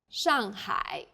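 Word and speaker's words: 上海: a word in pinion the pronunciation for the famous city Shanghai is Shanghai the first syllable here is made of an initial sh and a final and a fourth falling tone sh the second syllable is made of an initial h and a final I and a third falling then Rising tone hi sh well done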